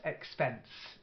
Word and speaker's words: expense: your first word here expense just the stress expense you stress on the second syllable then prayer not like